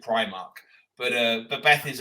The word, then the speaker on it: Primark: from Northern grinds me Beth says that High Street shop is she calls it pre-mark yeah okay and obviously the rest of the world and their dog calls it Primark but uh but Beth